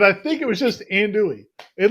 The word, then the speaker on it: andouille: it i mean i think it was just ann dewey i think it was just and dewey i listened to it and it wasn't it